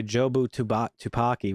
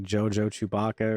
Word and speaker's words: Jobu Tupaki: Yeah, villain name, by the way, Jobu Tupaki, which there's some funny moments in that where Evelyn mispronounces it a lot and she calls her like Jojo Chewbacca or some shit.